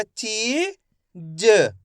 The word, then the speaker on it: चीज: ऐसे नहीं पढ़ना आपको जा, कैसे पढ़ेंगे? ज, तो अपना आप ही सही शब्द का उच्चारण हो जाएगा। क्योंकि अधिकतर लोगों से इसमें गलती होती है, लास्ट वाले अक्षर का उच्चारण पूरा कर देते हैं तो शब्द गलत हो जाता है।